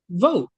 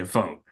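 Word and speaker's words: Vogt: What is I said Voit? Who? How do you pronounce his last name? Vote. Oh, okay. Vote.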